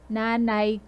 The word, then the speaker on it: nanay: Notice the stress is on the na. My other students, they would say nay. There's no 2y, only 1y. So nanay. You just pause a little bit at the first syllable.